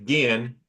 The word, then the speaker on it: Ginn: It's actually Ginn. It's not Jen, but it is more commonly mispronounced Jen.